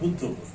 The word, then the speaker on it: বুদ্ধপুর: ওদের উচ্চারণ বুধপুর হয়েছে, কিন্তু আসলে বুধপুর, কিন্তু মূল কথা হচ্ছে বুদ্ধপুর।